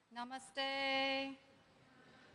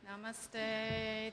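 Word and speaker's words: नमस्ते: Namaste. Namaste. That's how they say it in Nepal. They don't say namaste, they say namaste.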